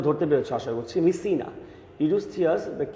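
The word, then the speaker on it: Mycenae: ইউরিস্থিয়াস the king of মিসিনা, উচ্চারণটা ধরতে পেরেছ আশা করছি। মিসিনা, ইউরিস্থিয়াস the king of মিসিনা অ্যান্ড his cousin.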